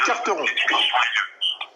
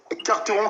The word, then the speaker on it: Quarteron: Monsieur Carteron. Donc ça s'écrit Carteron, Q-U-A-R-T-E-R-O-N.